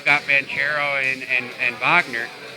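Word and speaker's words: Wagner: vano and and and Vagner I know that's how you say it Vagner he's from Berlin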